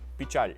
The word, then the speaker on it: pichar: It's sometimes spelled in his lyrics, but he usually pronounces it more like bichar. Reducing a to yah is pretty common, and then it's right next to the ch, so it kind of merges into that.